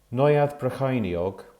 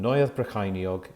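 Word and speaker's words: Neuadd Brycheiniog: poiss community health council brecken office first floor neueth brachiniog cambrian way brecken ld 3 7 hr and neueth brachiniog is spelt n e u a d d b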